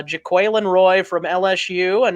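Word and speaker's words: Jaquelin: PR came out and released the pronunciation today Jacqueline it's not Jacqueline uh jaquille and Roy from LSU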